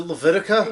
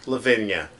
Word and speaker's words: Lavinia: unfortunately and their daughter is it Leviticus love yeah Lavinia laviticus from goddamn me not pronouncing Leviticus correctly stupid and then there's